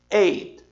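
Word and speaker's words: eight: Eu tenho uma junção GHT. De modo geral, quando essas três letras estão juntas em uma sílaba em inglês, o GH não tem som de nada. E acaba sobrando só o T, e o T ainda é mudo. Mudo não fala, então você diz simplesmente 8. Repara que você precisa dizer esse T, mas ele é muito miudinho. Ele é quase que sem som.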